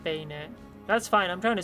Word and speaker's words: Banette: It was Benette? My first shiny in Omega Ruby. Currently in my Violet save. I don't know that Pokemon. Banetta. At least I don't think I know that Pokemon. It's pronounced Bayonet.